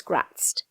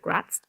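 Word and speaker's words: Graz'zt: of another powerful demon, Prince Gratz, or Gratit depend on how you pronounce that. I've heard it done both ways, but I'm going to go with Gratz.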